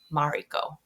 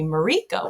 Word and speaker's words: Mariko: But anyways, my all of my cousins, my aunts, my grandparents, they always called me Mariko with the emphasis on the second syllable.